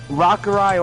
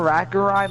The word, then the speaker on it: Rakurai: It can be pronounced either Rakurai or Rakurai. Like I used to just pronounce it Rakurai, but I like the little accent that people put on it. It sounds more British.